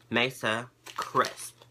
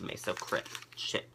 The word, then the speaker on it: Mesa Crisp: I think I've been saying it wrong. Mesa Crisp. Not chips, Mesa Crisp.